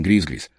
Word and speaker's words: gris-gris: Cresci acreditando também em gris-gris, só que nas montanhas nós pronunciávamos rimando com quis-quis.